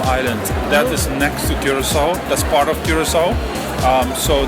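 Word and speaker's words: Curaçao: I am here with Andre from the beautiful island of Curacao. Remember that pronunciation.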